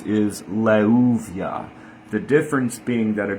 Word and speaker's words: Leuviah: Anyway so leuvia we do know how to pronounce the name in uh English or Latin letters and it is levia again the shem angel of intelligence memory and connecting to the divine.